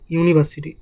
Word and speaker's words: university: এ ইউনিভার্সিটি কিন্তু এখানে বলা হয়েছে ইউনিভার্সিটি যদিও শব্দের আগে এখানে ভাওয়েল রয়েছে কিন্তু উচ্চারণ হচ্ছে উচ্চারণের সময় ইউ যার আগে ওয়াই